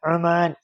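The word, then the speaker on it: عمان: ഉമാൻ അമാൻ ഉമാൻ ഉമാൻ ഞാൻ ആദ്യം പറഞ്ഞ രണ്ട് രണ്ട് പ്രാവശ്യം ഉമാൻ എന്ന് പറഞ്ഞില്ല അത് തെറ്റായിരുന്നു അത് ആയിട്ട് ഉച്ചത് അത് തെറ്റാണ്. ഉമ അമാൻ ഉമാൻ അ ആ ഉമാൻ ഉമാൻ ഒമാൻ അല്ല ഉമാൻ അടുത്തതാണ് മുഹമ്മദ് മുഹമ്മദ് ഈ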